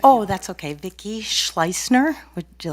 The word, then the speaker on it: Schleisner: Vicki Schleisner. Would you like me to spell that?